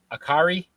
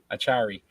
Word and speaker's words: Acciari: Maxim Marnin, center Nolan Acciari. No, I still said it wrong. Acciari.